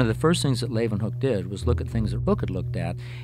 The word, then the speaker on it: Leeuwenhoek: L-A-Y, lay, u, then, they pronounce it with a V, hoek, Leeuwenhoek.